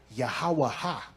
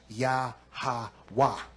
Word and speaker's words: Yahwa: So if I take the Y, the H, the W, and the H, and I put a A connected to each of them, I'm going to get Yahawaha. But in ancient Hebrew, the last two characters have to close off the sound of the word. So I don't put an extra a at the end of it. Now it would be pronounced yahwa.